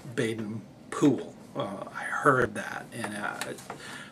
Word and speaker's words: Baden-Powell: that's that's actually how they pronounce it in England that's how he actually said it and I didn't I didn't really believe it until I actually heard a recording it was from a wax disc tube that actually had had a victrola recording of of his voice and he introduced himself with Baden Poole I heard that and